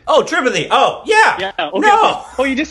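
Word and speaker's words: Tripathi: r i p a t h i oh tripathy oh tripathy oh yeah oh you just say it differently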